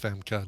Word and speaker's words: Famke: Yeah, Famke Janssen is pronounced Femke, not Femke.